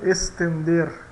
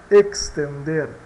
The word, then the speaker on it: extender: Pronunciar estender, né? Ou extender, extender, tá? Então também pode ser S ou KS, né?